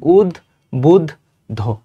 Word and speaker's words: উদ্বুদ্ধ: জয়ধ্বনির মতো উদ্বুদ্ধ শব্দের প্রমিত উচ্চারণ কি? উদ বুধ ধ, উদ বুধ ধ।